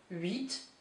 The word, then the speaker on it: huit: Huit, you do pronounce the T, huit.